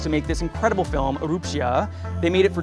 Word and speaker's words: Erupcja: Erupcja, am I saying it right? You're not. Okay. Erupcja? Okay, you want to try one more time? Erupcja. Erupcja.